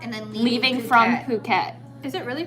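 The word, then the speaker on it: Phuket: then leaving leaving from puket is it really pronounced B yeah I thought it was so I've been saying because it's spelled pH oh so Americans think it's it's like phen pH phenomenal but if you're Kon that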